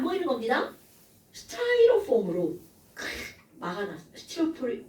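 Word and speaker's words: Styrofoam: 스타이로폼으로 막아놨어. 니네 스티로폼이라고 하죠? 영어 발음은 스타이로폼입니다.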